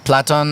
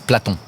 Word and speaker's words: Plato: know if it's PL platon or Aristotle you say Plato it's Plato in French it's platon platon yeah uh so I